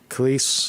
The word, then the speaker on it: Kelce: Travis Cleese will not be joining Taylor Swift at Grammys.